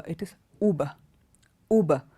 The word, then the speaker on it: Uber: is you BER I've heard lots of people pronounce this word as yuba because you have that you there it's not Huber it is uber uber it's not Yuba it is uber the